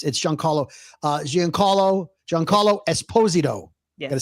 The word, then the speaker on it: Giancarlo Esposito: It's Giancarlo Esposito.